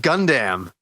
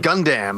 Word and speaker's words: Gundam: last life podcast we did when I said gun damn people thought that was so funny the way